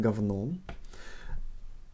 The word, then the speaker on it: говно: So here, говно, written говно, pronounced говно.